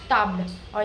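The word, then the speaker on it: tableau: So it is like tab because e a u makes a sound of so tablo and not while the spelling is t a b l e.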